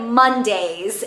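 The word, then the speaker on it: Mondaze: But anyways, I picked up the shade Mondays, and the way it's spelled is like M-O-N-D-A-Z-E, like days. I think that's really funny.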